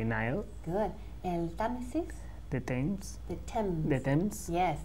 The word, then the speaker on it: Thames: Now, it's a very interesting pronunciation here because the spelling is very different from how you pronounce the word. The spelling is T-H-A-M-E-S, right? T-H-A-M-E-S. Pero se pronuncia like Thames.